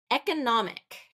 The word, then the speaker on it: economic: next one economic economic so that one has a first a first and second stress okay a primary and a secondary stress so primary is e the first syllable and then third syllable is getting that stress to economics economics so that third third syllable stress really gets more of the emphasis than the rest of them economic economic and I